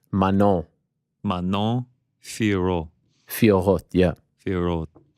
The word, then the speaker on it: Manon: Manon. You don't pronounce the second N. Manon.